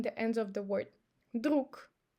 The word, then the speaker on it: друг: As you see, we don't say ложка. So we pronounce sh instead of zh because of k.